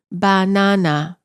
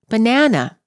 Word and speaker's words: banana: For example, in many languages the word banana is pronounced as banana. All three syllables are stressed equally. In English, we pronounce the word as banana. The second syllable is stressed.